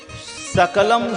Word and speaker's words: सकल: होता है ना उसमें दांत वाला जो सरकार है जिसका उच्चारण दांत से होता है यदि उसका उच्चारण हुआ तालु से कर दें उसका अर्थ हो जाएगा कुत्ता सकलम सकलम सकल दांती सरकार दांत से उच्चारण करने वाला शक्ल यदि बोलते हैं इसका अर्थ होता है संपूर्ण संपूर्ण सकल जगत मां